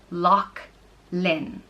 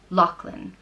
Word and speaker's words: Lachlan: it means land of the LOX and is pronounced Loch Lynn Locklin and where Lachlan comes from is so the